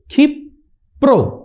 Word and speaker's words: ক্ষিপ্র: পরেরটা দেখো ক্ষিপ্র হস্ত ক্ষিপ্র হস্তটা কিভাবে উচ্চারণ করছি দেখো প্রথমে আমরা কি করছি খিপ কি হয় প হসন্তর খিপ তারপরে কি করছি প্রো তাইতো খিপ প্রো পয় র ফালা প্রো তারপরে কি বলছি খিপ